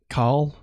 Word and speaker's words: Caul: cow Cal been like call Kyle no call like like c-a-u-l like cauldron call because it's pronounced like cal-l color better call it All